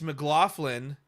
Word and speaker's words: McLaughlin: out of Vermont, and by the way, it's McLaughlin. It's okay. McLaughlin. Many people say my name like that at first glance. So, I guess it is McLaughlin.